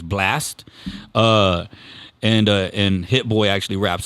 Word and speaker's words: BLXT: I don't want to mistake this name, but I want to say his name is Blast. He's a singer, BLXT, and I think the X is supposed to be an A.